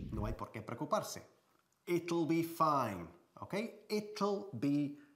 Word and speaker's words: it'll: Y decimos it'll, ¿vale? Aquí la pronunciación es muy importante y difícil, a primeras vistas, para los españoles. Pero no lo es, porque ya conocéis la palabra little, que significa small, pequeñito, ¿eh?